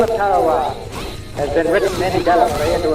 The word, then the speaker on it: Tarawa: to the tiny island in the mid-Pacific called Tarawa. That pronunciation, incidentally, is from the National Geographic Society. That island will never be important economically. It is no rich source of raw material. But the name of Tarawa has been written indelibly into American memory in